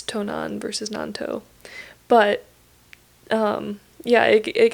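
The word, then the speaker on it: 東南: Which is interesting because those same two kanji, you pronounce it Nanto. You use like the onyomi versus kunyomi reading.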